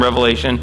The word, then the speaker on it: Revelation: It's not called Revelations, okay? It's called Revelation. There's only one Revelation.